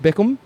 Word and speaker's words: Bickham: So the guy I have with me today is Joseph Bickham. Did I say it right? That's it. See, Bickham. I got it. I nailed it.